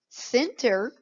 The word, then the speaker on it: center: Center, here your C is followed by your E. So E-I and Y, it's going to make that S sound.